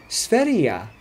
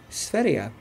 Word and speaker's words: Sverige: In fact, Sweden, the way they spell it, it looks like Sverige, but they pronounce it Sverige. So the G at the end is ja, Sverige.